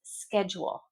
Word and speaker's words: schedule: The pronunciation depends if you're speaking British English or American English. I'm Canadian. My accent is American pretty much. So, it's schedule. Schedule. Schedule. Schedule. British English. Schedule. Schedule. But you need to be pronouncing one of those two.